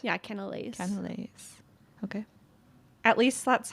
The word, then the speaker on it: cannelé: pronounced? Yeah, canales. Cannelés.